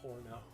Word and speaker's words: horno: I don't like el horno. El horno. Yeah, but el horno is funnier. You pronounce the H. Yeah, but el horno. Yes, but you don't pronounce the H, babe.